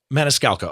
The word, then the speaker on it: Maniscalco: composite of the comedian Sebastian Maniscalco did I pronounce his name correct Sebastian Maniscalco yep Maniscalco okay so there are so many reasons that